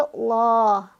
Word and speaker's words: Allah: atau fathah nah sehingga cara bacanya ditebalkan atau l Jadi bukan lah tapi Allah nah permasalahannya adalah ditebalkan di sini apa sehingga menghasilkan bunyi Allah seperti itu itu adalah akibat